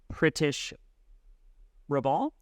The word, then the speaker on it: Pritish Raval: Hey everyone, it's Andrew J, and we are with my good friend and fantastic mortgage consultant, Pritish Raval.